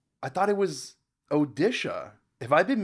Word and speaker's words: Odisha: I know most of these um yeah wait orisa I thought it was odisha have I've been mispronouncing this the whole time have I really